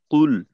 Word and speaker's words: قل: কফ এই উচ্চারণ তো সূরা কাফিরুনের ভিতর। কুল, তো এই কফকে জোরালো করা আর লামের জজম যেন স্পষ্ট থাকে।